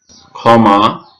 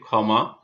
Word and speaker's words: ক্ষমা: শব্দের শুরুতে ক্ষীয় এর উচ্চারণ ক্ষয়ের মতো হয়ে থাকে। যেমন ক্ষমা, শব্দের শুরুতে আমরা দেখতে পাচ্ছি ক্ষীয় আছে, তাহলে এটি উচ্চারণ লেখার সময় খ এর মতো হয়ে এখানে হয়ে থাকে। আমরা দেখতে পাচ্ছি ক্ষমা, ক্ষীয় আছে এবং এটি শব্দের প্রথমে থাকায় ক্ষয়ে